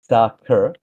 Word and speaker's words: Saqer: Uh, it's pronounced uh sakur with a soft a like sack or it's actually Arabic for falcon, which ties the game's name, Falcon's paradox.